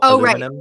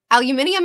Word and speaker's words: aluminium: say it aluminium or aluminum aluminium aluminum Al wait how did you say that say it again aluminium is how you say it e yeah but you